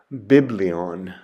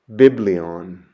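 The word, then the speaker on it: βιβλίον: book or scroll, and it's pronounced biblion, biblion.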